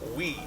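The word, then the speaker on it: wí: a very easy word it's w I it's pronounced we and to to put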